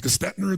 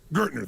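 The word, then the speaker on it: Gerstner: It was Gestetner, the gentleman who came in, who was like the major turnaround guy. What's his name? Gertner, thank you. And Gertner comes in, and sure enough, when Gertner came in, the first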